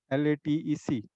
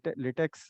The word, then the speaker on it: LaTeX: Uh, Before I go into that, we pronounce LaTeX as LaTeX, LATEC, though it is spelled as latex, but the pronunciation is LaTeX.